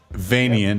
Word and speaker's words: Vanian: Vanian, as in Transylvanian.